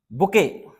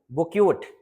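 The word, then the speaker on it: bouquet: फिर है बात करते हैं बुके, बुके। अब देखो लिखा तो बुकेट है, बुक्यूट, लेकिन है वास्तव में क्या, बुके।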